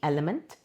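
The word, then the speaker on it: LMNT: It is LM NT pronounced element and it comes in various flavors.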